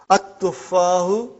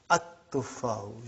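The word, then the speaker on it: التُّفَّاحُ: See, there is no shadda anta. Dhamma is given. But now your mind knows that that is a sun letter. So you will pronounce as at-tuffahu. You will put a shadda anta.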